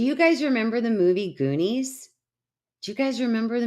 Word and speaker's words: Goonies: Yes, it's Goonies. Thank you. Thank you, Ray. Thank you, Eric. All right. Wrinkles or stiffness in the extremities. Thanks, Lee. Rhymes with loonies.